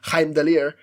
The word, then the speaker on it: Heimdall: who's probably like oh he's pronounced in the correct way heimdaller but you know yeah